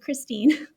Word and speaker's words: Khrystyne: I know it's spelled so weird, but it's just normal. Khrystyne.